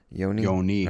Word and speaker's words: Yoni: Is it Yoni? It's not like Yanni the singer. It's I'm not sure. Or the musician. Maybe Yanni. It would be a long O because the I. Yeah. Yoni.